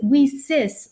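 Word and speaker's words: WiCyS: and we pronounce it whis like we sisters because that's exactly what we are we are a global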